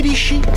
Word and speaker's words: litchi: Prends des gardes, mes petits litchis. Ça se prononce litchi.